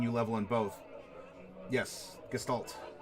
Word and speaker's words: Gestalt: Yes, Gestalt. Or Gestalt, if you're to pronounce it a little bit more efficiently. It's kind of the SH.